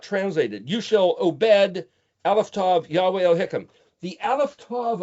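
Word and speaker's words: עבד: But you see, in Hebrew, ayin bet dalet is pronounced, well, the letters are O, B, D, obed, where we get the word obedience, Obadiah, the name of that book.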